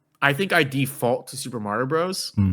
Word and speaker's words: Super Mario Bros: me ask you something do you pronounce this Super Mario Brothers or Super Mario Bros I I alternate for sure um like I I I think I default to Super Mario Bros like when I'm just